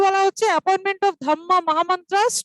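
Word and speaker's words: dhamma: ধর্মাকে আমরা হিন্দু, মানে সংস্কৃত বা হিন্দিতে বা বাংলাতে ধর্মা বলি, তো একটা রয়ের উচ্চারণ হয় তো, পালিতে কি হয়, এটা পালি ভাষায় লেখা, পালি ভাষায় আটটা কেটে যায়, শুধু ধাম্মা থাকে, ঠিক আছে।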